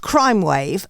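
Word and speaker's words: Crymwav: this is um this is right there it's pronounced crime wave but they're actually it's spelled Crim wav c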